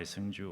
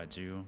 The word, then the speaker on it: Sunju: My name is uh Sunju. Either go by Sunju or Aju, whatever the pronunciation will be easier for you.